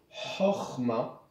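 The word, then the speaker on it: חכמה: de chokhma, par exemple le mot chokhma, qui veut dire intelligence, se prononce ch, chokhma. Et donc il se dirait chokhma. Mais si vous dites chokhma, personne ne vous le reprochera.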